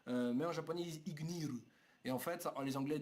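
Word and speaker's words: Igneel: Mais en japonais, ils disent Ignir. Et en fait, les Anglais disent eux Ignir. Ignir. Ignil ou Ignir. Ça revient au même parce que le L en japonais se prononce R, donc est-ce que c'est vraiment un problème?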